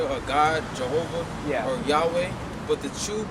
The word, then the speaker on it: Yahweh: or Yahweh. But the true pronunciation is Yahweh.